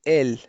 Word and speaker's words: elle: فالبعض من المبتدئين في تعلم اللغة الفرنسية دائما يتساءلون ما الفرق بين il et elle. il للمذكر و elle للمؤنث، مع أنه يرى أنهما لا يختلفان في النطق.